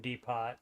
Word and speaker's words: Depot: which is a Midwest version of The Home Depot and the uh yes and I know it's pronounced Depot but I used to work at